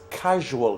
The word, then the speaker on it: casual: number two he wears casual clothes look at this pronunciation so CA is what car and then issue makes the real sound casual okay so it's Hugh makes some of the J sound so he wears casual